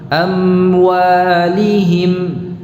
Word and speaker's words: أموالهم: memperhatikan dengan seksama ya, pengucapan mim ini bisa terbaca ikhfa amwa, jadi belum betul-betul menempel bibir ini, belum betul-betul terucap ya, masih setengah amwa ya, terutama kalau membacanya dengan tempo yang cepat ya, bukan amwa tetapi jelas jadi satu-satu harus dibaca, dikeluarkan dari makhrajnya.